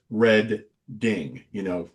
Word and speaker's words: Reading: So like for Reading, it says Red Ding, So, but yeah, for